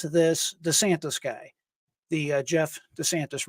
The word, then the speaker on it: DiSantis: Exclusive Biden administration planted operative, and here is the individual's name, Jeff, and I believe it's pronounced DiSantis, just like Governor DeSantis.